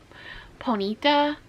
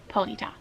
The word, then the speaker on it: Ponyta: Um, some people pronounce it po Ponyita and some like in my a kid who grew up in the '9s watching Pokemon and like seeing the cartoon, um, they pronounced it ponytail. So, that's what I'm going to say.